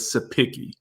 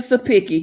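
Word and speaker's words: Cepicky: bill that was disgusting c e p i c k y and i think they pronounced it as supiki mr sapiki you racist mr sapiki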